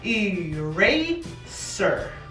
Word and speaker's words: eraser: Así que esa E modifica el sonido de la A. Así que la palabra se pronuncia eraser.